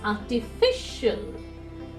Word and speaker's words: artificial: Whenever there is an IL ending, from the right hand side, if you count, the 2nd syllable from the right hand side will be told more strongly is artificial, artificial. Ceremonial, ceremonial.